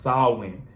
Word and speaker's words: Samhain: When you look at it, it looked like it's spelled a different way or it's said a different way, but it's really pronounced Samhain.